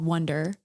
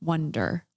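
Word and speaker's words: One-der: ours a name it's called wonder I'll just tell everybody and spell it o n e dash d e r wonder cuz we represent the one like him and I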